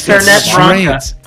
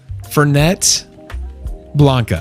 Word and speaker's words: Fernet Branca: No, it's Fernet Branca. Fernet Blanca. Fernet Branca. Okay.